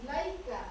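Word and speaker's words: إليك: Nah, ilaika ada tanda baca fathah bertemu dengan huruf ya mad. Nah, di sini ya lam fathah kemudian ketemu dengan ya mad. Oke, cara membacanya sekedar lunak dan lemas ya. Ilaika.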